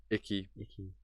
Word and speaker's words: Iki: nikki island as well is that how you say it was it icky that's how jin says it yeah that makes sense